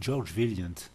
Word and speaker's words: Vaillant: Les premiers travaux qui ont été faits à Harvard par George Vaillant. Ça se prononce comme ça en américain, mais c'est sûrement un